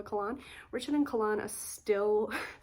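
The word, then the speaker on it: Kahlan: this far in and Richard and kaln which is apparently how her name is pronounced but I don't know everyone in my family calls her Kanan so I'm going to call her colan Richard and colan are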